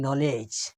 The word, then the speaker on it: knowledge: আর এখানে দেখেন নলেজ, আর একটা ওয়ার্ড দেখাইলাম আমি, তো কেটা বাদ দেন, দেখেন NOW, LEDGE, নলেজ।